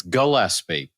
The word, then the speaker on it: Gillespie: I feel, yes, it's Gillespie. The hard G.